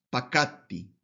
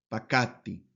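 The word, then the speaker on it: פָּקַדְתִּי: En el primero, como un singular, entonces esa palabra es pakatti, pakatti, aplicando la regla del sheva en la tercera radical, que no se pronuncia la vocal.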